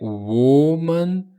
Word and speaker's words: woman: Então aqui é woman, pretty woman walking down the street, woman. Então primeiro é wo e depois é man.